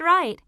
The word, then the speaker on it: write: right no that's right the w is silent right page 64.